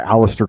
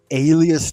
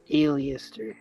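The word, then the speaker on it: Aleister: Li 777 is by Alistar Crowley and it's 38 Pages 274 Pages yeah you know Alistar Crowley he didn't like to be called alist Crowley he said his name is pronounced Alias Crowley Alias yeah Alias Crowley but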